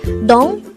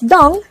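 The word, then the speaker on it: 동: It's not do, but it is pronounced as dong because ieung has the ng sound because it is in position 3.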